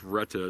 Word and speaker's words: Retay: of five Retta arms spelled retai Reta why I think Rhetta is a correct pronunciation Messiah Mars this is